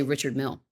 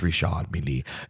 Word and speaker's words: Richard Mille: Yeah, because a lot of people say Richard Mille, and that ain't right. Richard. No, it's Richard Mille.